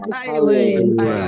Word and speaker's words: highway: Highway. Very good. Good, bacanya highway ya. Highway. Jadi ada GH-nya nggak usah dibaca ya. Jangan dibaca hike gitu, bukan ya, tapi highway.